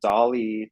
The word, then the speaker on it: DALL-E: I would say that Dolly 2 is the way to go. It's spelled DALL-E, like Salvador Dali, but spelled like Wally, the robot.